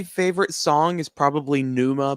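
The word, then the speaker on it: Pneuma: song is probably probably Numa by tulle p n e m a i think is how you say it and then my favorite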